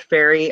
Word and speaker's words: Feri: Yes, a lot of folks they hear the word fairy, and there's many different spellings of it. It's spelled F-E-R-I, and it's basically the